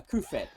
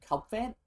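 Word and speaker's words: Cufant: A Kufet. That's him. I don't know why I keep calling him Cubfan. I've called him that forever. It's one of those weird mispronunciations.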